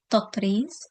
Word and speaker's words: tatreez: And but if we want to, if you spell tatreez, the most, it's just a way to show how we say it in Arabic. The proper pronunciation in Arabic is tatreez. So in English, we try to mimic that sound through the letters TATREEZ, tatreez.